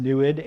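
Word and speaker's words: NEID: That's the Native American name, pronounced NUID.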